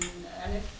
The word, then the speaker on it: Elif: And Elif, yeah, I said it right?